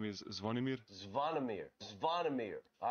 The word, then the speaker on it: Zvonimir: Pronounce just your first name. So my first name is Zvonimir.